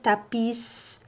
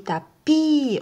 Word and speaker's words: tapis: qu'on peut pas dire tapissent on dit tapie on prononce pas le s alors petits gris tapis